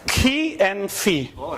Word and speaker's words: chi: know how, what is the Italian way of pronouncing it? No, it's Greek. It is Chi. letter, right? Chi and phi.